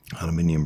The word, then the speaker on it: aluminium: Aluminium, aluminium brass, limestone, and I do realise I'm saying aluminium. I'm English. This is how we say it. In fact, this is how it's said because it's an English word.